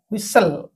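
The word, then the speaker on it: whistle: एच आई एस व्हिस टी को silent करी एली व्हिसल okay व्हिसल city okay तापरे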